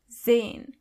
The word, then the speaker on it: sehen: As you can see, the letter S is not pronounced as S, but more like Z. So you say sehen.